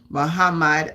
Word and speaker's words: Muhammad: yes I am blessed Mohamed H Muhammad I pronounce it Muhammad Ali was one of the greatest box of